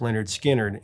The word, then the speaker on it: Lynyrd Skynyrd: Five of those 17 would make it onto their official debut, pronounced Leonard Skard in 73.